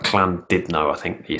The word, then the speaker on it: Llandudno: We did a gig in, I can't say it, it's Llandudno. That's not how you say it. It's like Llandudno, I think you say it.